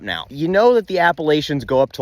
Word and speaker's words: Appalachia: like to me Appalachian you're still getting that sh sound in there but usually in that region it's pronounced with the hard CH appalachin you know you pronounce it Appalachia I'll throw an Apple at you a full disclaimer I